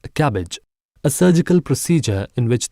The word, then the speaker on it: CABG: coronary artery bypass grafting or CABG pronounced as cabbage a surgical procedure in